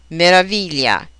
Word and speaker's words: meraviglia: A four-syllable word on the third syllable, meraviglia.